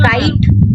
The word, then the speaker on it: kite: Akshay, Ma'am, kite. Yeah. Yes? Kite. K-I-T-E. Perfect. Kite. Perfect. This is to tell them how E is silent if it is in the end.